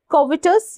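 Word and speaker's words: covetous: Next is कोविटस या कोवेटस। ठीक है? कोविटस भी प्रोनाउंस कर सकते हैं।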